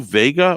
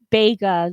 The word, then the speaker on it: Bega: Now, isn't it Lou Vega or is it Lou Bega? I think it is Bega.